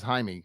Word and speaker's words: Jaime: This version they're using, because they're using Miguel or Zolo, is the Jaime Reyes, and that's how it's pronounced, is Jaime, because he is of Mexican American descent in the comic books.